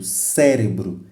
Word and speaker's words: cérebro: Por exemplo, cérebro, cérebro. Então, a sílaba tônica é C, porque é no C onde usa-se mais força.